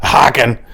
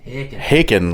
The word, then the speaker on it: Haken: It is not Haken. It is Haken, like bacon.